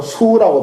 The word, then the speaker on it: 수화: 그랬어요 여기 수화가 나옵니다 숙이 아니에요 수라고 발음해야 됩니다 어면 이제 수라고 그냥